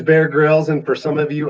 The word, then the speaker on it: Bear Grylls: It's Bear Grylls or Griles? How do you say that? His name is Bear Grylls, and for some of you other TV buffs, Mr.